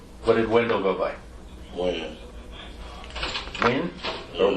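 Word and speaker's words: Wynn: Win. Win? Or Wan?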